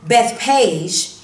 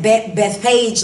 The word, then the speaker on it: Bethphage: them and sometimes that beth page like i said it that way but people say it different ways some people say uh before bethesda something like that so you may hear that word um pronounced differently but i said bethphage um but anyway verse